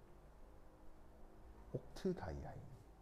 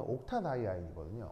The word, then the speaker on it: 옥타다이아인: 그럼 만약에 A를 빼고 읽으면요. 옥트 다이 아인이에요. 옥트 다이 아인. 근데 A를 넣으면 옥타 다이 아인이거든요.